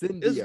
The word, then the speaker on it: Incendio: See, it's Incendio. just random syllables smashed together.